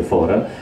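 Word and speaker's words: Fårö: Gotland è l'isola, o meglio, vicino a Gotland c'è un'isola che si chiama, si scrive Faro, ma si scrive Fora, credo, si legge Fora, che è l'isola di Bergman.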